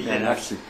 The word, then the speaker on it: Nazi: Nazi. I asked him. He said, in my country, Z is equal to TS.